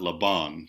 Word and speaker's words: Laban: So now we have and Rudolf von Laban, and so the accent, this Hungarian person's the accent on his last name is on the first syllable, Laban, not Laban, but Laban.